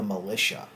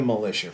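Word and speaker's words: Malisha: Alicia Edwards are the militia but it's spelled like Masha and then Alisha so it's m a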